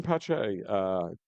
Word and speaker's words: Pache: Christian Pache. So you have to say it like Pache.